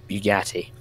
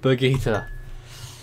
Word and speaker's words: Berguitta: And here is Bugatti. Oh, Berguitta. Okay, well, you told me to call it Bugatti if you can't pronounce it.